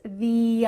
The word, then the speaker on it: the: He's th-ee opposite of modest.